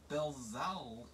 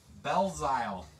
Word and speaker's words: Belzile: Montreal Canadian, Alex Belzal. Bazil? I don't know. He's like, we sell all his cards. I should know how to pronounce his name. Goes to JJ. Belzile. It's almost like Belil.